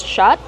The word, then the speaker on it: shot: Shot, use the open ah sound like hot and stop.